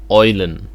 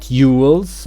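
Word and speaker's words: Eulen: have the Yules or how they are correctly pronounced in German oilin not Yules or oil less oilin or if you just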